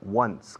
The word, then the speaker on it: once: Se pronuncia once, como el pasado de to win, o como el número 1.